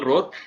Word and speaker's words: Rorr: so Rorr, pronounced the normal Rorr.